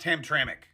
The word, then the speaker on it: Hamtramck: By the way, I know it's spelled Hamtramck, but it's pronounced Hamtramck.